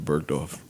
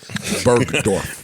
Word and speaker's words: Bergdorf: I know he did some shit because he pronounced the G. Yeah. Bergdorf. Yeah. I've never heard it pronounced like that.